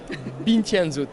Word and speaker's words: Bintje & Zoet: Donc, prononcez-le pour moi. Bintianzot, voilà.